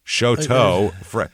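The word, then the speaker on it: Chouteau: Oh, Fort Pierre Chateau, by the way, chatau.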